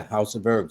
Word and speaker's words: Hauseofherbz: And let me be very clear when she says the house of herbs, it ain't the traditional way you spell house. It's a synonym, which means it sounds like a house, but it's spelled totally different.